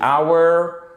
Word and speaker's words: hour: anglais ça se dit hour et le H ne se prononce pas one ça se prononce exactement comme notre corps notre voiture c'est exactement la même prononciation que elle va durer one hour perfect OK si vous